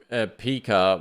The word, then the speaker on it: Pika: think you pronounce it Pika because it's like Pikachu but um Pika which uh was a